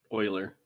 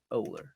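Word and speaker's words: Oehler: um like i had always used which is spelled o-e-h-l-e-r euler dawg nobody ever can spell that polar pronounced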